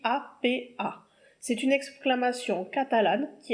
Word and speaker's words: apa: L'expression locale, ça va être APA, ça s'écrit A-P-A.